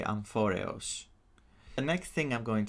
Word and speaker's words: Amphoreus: Now the planet Anforius is if you pronounce it in Greek, you would say Amphorio.